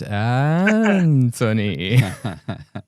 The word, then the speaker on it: Anthony: So before we hit record, Anthony was telling us his preferred way to pronounce his first name is Anthony. That's the way my mother calls me.